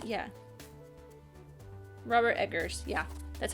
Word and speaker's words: Eggers: Robert Eggers.